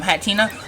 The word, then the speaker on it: Hatterene: Alright, so I had Hatterene, that's how you pronounce it.